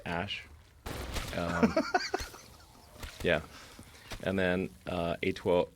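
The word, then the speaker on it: Æ: and then the a ae is like pronounced ash yeah and then uh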